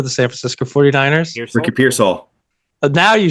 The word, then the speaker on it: Pearsall: Ricky Pearsall.